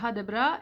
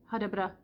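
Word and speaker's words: Ha det bra: Et toujours est-il que je trouve que cette phrase hadabra, elle a une mélodie qui est propre en fait. Vous n'entendrez rarement quelqu'un dire hadabra, hadabra, genre comme on peut avoir en français linéaire comme ça. Hadabra, c'est toujours hadabra, nanana. Il y a vraiment une mélodie, quoi, c'est nanana.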